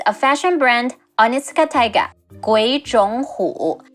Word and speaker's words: 鬼冢虎: 鬼冢虎. It's a bit tricky to pronounce. All three of them are the third tones. The first two becomes the second tone.